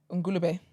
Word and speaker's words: Ngulube: How'd you pronounce that? Ngulube.